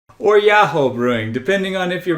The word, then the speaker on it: Yoho: and trying the Boku Beer Kimi Beer from Yoho Brewing. It's Yaho.